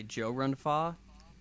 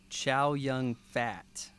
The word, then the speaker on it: Chow Yun-Fat: And it was started by Joe Run-Fa. Do you know what most people call Joe Run-Fa in America? No, tell me. Chow Yun-Fat.